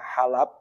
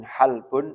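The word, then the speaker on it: حَلَب: Bifathil lami, cara bacanya dengan fathah lamnya, halab. Wa yajuzu iskanuha, dan boleh disukun halbun atau halab.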